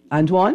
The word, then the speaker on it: Antoine: So Antoine, that's how you pronounce Antoine, it?